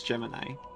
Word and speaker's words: Gemini: I know it's Gemini, by the way, but they literally pronounce it Jiminy in the game.